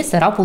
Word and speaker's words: Сарапул: царапал в россии или сарапул в индии оба города даже имели одинаковое написание на английском языке и одинаковые ударение на втором слоге и начал переписываться с